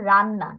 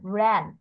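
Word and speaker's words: ran: হ্যাঁ, আর এটা প্রোনাউন্সিয়েশন হবে রান্না। র্যান। আর এ এন এর উচ্চারণ এখানে হবে র্যান।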